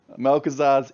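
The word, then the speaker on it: Malchezaar: Yeah, I have trouble pronouncing this one, so I'll let Cage pronounce this one. Malkazar's Imp, I think. Did I get that right? That's correct. Melkazar's Imp.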